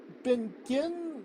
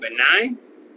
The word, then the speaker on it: benign: Um, she has um she had something uh she's had surgery on something in her back called Benin Mass. I could be totally mispronouncing that. Um, what? Benign benign mask.